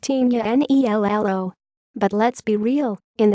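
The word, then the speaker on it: Tignanello: had a sip of wine called Dignan ello pronounced tinea and i ll oh but let's be real in the States most people said Tecna and I ll OH or just plain old tick the it's lolly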